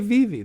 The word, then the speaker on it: Vivi: I Is that how you pronounce it? Yeah. That's That's very good. It's boa, right? And it's Vivy. Vivy. Yeah, you can say Vivie.